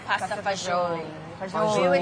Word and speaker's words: pasta fagioli: So it's pasta fagioli. Yes. And yes, fagioli. And in an American setting, they say it pasta faioli. So it's Aioli. different. And then the Italian Americans would say pasta fagioli.